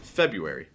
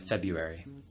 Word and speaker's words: February: I say it February do you ever pronounce the first star or no the r if I need to speak very clearly so that someone understands then I might say all the letters that are there even though you don't usually pronounce them but February I think